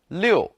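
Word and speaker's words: 六: number in chinese because six liu is the same pronunciation as the word to go smoothly 66 is very smooth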